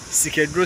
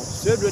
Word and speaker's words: Swedru: But when you say, "Sikedro, Sikedro," as in people have been saying, "Say Swedru, dear, Sikedro, Sikedru, Sikedru." No, Swedru, dear, be.